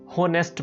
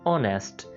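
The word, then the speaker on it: honest: लोग miss pronounce करके होनेस्ट बोल देते हैं, मतलब एच को साथ प्रोनाउंस करते हैं, लेकिन इस वर्ड के अंदर हमने एच को प्रोनाउंस नहीं करना होता, हमने सिंपली कहना होता है ऑनेस्ट।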